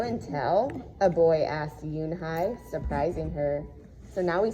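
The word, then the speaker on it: Unhei: No, Yoonhai corrected. It's spelled U-N-H-E-I. It's pronounced Yoonhai.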